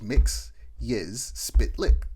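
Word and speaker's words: Mxyzptlk: Mix Your Spitlick, and like Superman mispronounces it, and then Mix Your Spitlick essentially he like sounds it out and he goes mix yiz spit lick.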